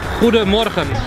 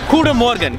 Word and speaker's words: Goedemorgen: Morning is Goedemorgen. Goedemorgen, that is the morning.